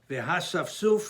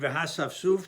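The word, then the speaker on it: וְהָאסַפְסֻף: Aleph, in Hachai writes, when you read the word V'hasafsuf, the Aleph is Naha. There is no Nikud, there is no vowel underneath the Aleph, and the Aleph is silent. So the word is read V'hasafsuf, as if the Aleph is not there, and not V'hasafsuf, but V'hasafsuf. That's the way it's read.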